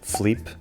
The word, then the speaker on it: Filipe: Isto faz com que muitas vezes não pronunciemos algumas vogais que noutras partes do país se pronunciam, como o “i” de Filipe, que dizemos Flipe, ou o i da própria palavra Lisboa, que dizemos Lsboa.